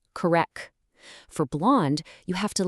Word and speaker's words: blonde: For blonde, you have to lean into the nasal sound, but ensure you hit a soft D at the very end.